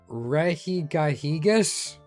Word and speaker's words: Regigigas: Regigigas? I think is how you would pronounce that, Rosie.